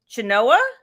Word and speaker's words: Chenoa: Now her name, Chenoa? I think you got it right.